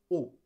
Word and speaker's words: os: J'ai été ordonné de me prosterner sur 7 os. OS, pluriel de os. C'est juste que ça se prononce O.